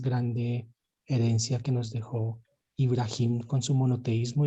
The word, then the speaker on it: Ibrahim: nos dejó el patriarca ibrahim porque su pronunciación más cercana que podemos tener de de su nombre es ibrahim es el monoteísmo